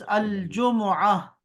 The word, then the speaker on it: الجمعة: yes, the last one should be h, okay? We should pronounce here h, okay here।